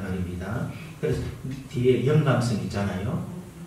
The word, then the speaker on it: 영감성: 그래서 뒤에 영감성 있잖아요. 영감성은 발음을 잘해야 됩니다. 영감성 하지 말고 영감성.